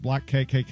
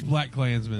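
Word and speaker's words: BlacKkKlansman: to pronounce number seven is it black KKK it's been it's black Klansmen okay triple K I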